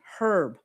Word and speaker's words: herb: And not all areas around the UK pronounce the H. A lot of them drop it because of the etymology.